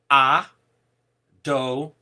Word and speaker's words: Adonai: Today, when in prayer and in Torah reading we come across the name, we pronounce it as Adonai.